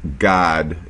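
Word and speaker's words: גד: God is a man Gad GD in the Hebrew Gad means good luck and it's pronounced God in Hebrew okay here's surum class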